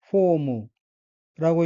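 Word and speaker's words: フォーム: 장음 표시, 그리고 무이고 후 뒤에 작은 오는 합쳐서 포라고 발음합니다. 따라서 단어 전체는 포무라고 읽으며 포무는 폼, 형식, 자세, 모양이란 뜻입니다.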